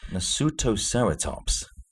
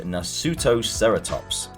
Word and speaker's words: Nasutoceratops: How do you pronounce that? Nasutoceratops. Sounds like it's an anime or something. So it's about a family trying to survive an encounter between an Allosaurus and a Nasutoceratops.